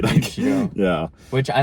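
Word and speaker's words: Muichiro: I can't pronounce it. Yeah, you got it right. Muchiro.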